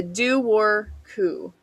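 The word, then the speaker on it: Dobhar-chú: and that is the Doo-Wor Coo. Now, this is the one I'm very thankful they had a pronunciation for, because I would not have said that looking at the spelling.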